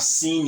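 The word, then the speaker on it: سين: This is see, like you are saying, I have seen you, I have seen him.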